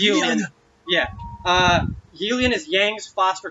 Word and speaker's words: Yulian: Actually, I'm gonna say Yulian because that's actually how they pronounce it in the Japanese. So I'm just gonna keep saying that. It's Yulian.